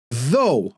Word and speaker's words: though: o no no no though okay so it's O but cough so it's